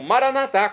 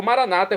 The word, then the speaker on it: Maranata: melhor e agora eu clamo maranat como dizemos nós católicos ou Maranata como dizem nossos irmãos separar os evangélicos ou protestantes não importa a pronúncia o significado é o mesmo vinde Senhor Jesus um